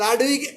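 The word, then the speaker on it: Ludwig: তারপরে আরেকটা হচ্ছে লাডভিগ অ্যাঞ্জাইনা, অনেকে লাডভিগ অ্যাঞ্জাইনাও বলে, আসলে ভিগ হবে উচ্চারণ, লাডভিগ অ্যাঞ্জাইনা।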